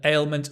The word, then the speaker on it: ailment: a sickness an ailment ale it's a difficult word to say I know a a it's a sliding vowel so you see my mouth changes a alement always slow down with difficult words ailment look at the mouth ailment I can't see your